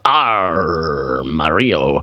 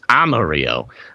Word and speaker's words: Amarillo: His recent pronunciation from Friday of R. Mario had me rolling." I had to give you a hard time about it. It's Amarillo.